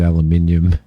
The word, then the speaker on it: aluminium: We got aluminium. I did have somebody go. Oh, I did have somebody go ballistic at me because I pronounced it aluminium.